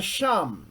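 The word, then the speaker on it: שם: is used here the Sham the Sham this is it here Shan mom Shan mom and it is pronounced sham it is the word sham the Sham of Yahweh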